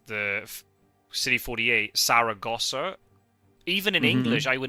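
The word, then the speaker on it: Zaragoza: discovered that is the it makes sense that's the English pronunciation but it's also the spelling is different because in Spanish it's with a zed um I think cuz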